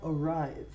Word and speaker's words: arrive: call you when I arrive notice my pronunciation arrived it's a V and look at my teeth they are on my lower lip okay arrived we do